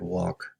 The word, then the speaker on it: walk: you to remember that walk sounds like talk awk and work sounds